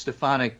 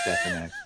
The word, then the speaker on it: Stefanik: Do we have we been doing that wrong the whole time? No, it's Stefanik, but Trump pronounced it as Stefanik.